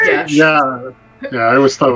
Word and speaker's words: geas: I always thought it was Gios. No, it's Gesh.